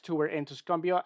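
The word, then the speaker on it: Tuscumbia: X to were in tusumbia I believe that's how it's pronounced tusumbia Alabama uh your lineup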